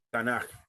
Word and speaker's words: Tanaj: Tanaj. Okay. Algunas veces se escribe con J aquí al final porque es por el sonido gutural que tiene.